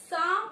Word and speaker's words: psalm: formless right now let's start with a poem some off light please don't get confused when we